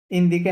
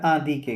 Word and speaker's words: indiquer: Indiquer l'heure ইন্দিকে না, এটা আদিকে কি হবে? আদিকে। হুম, হুম, আদিকে এই আইএনটা ঠিক হচ্ছে না আমার।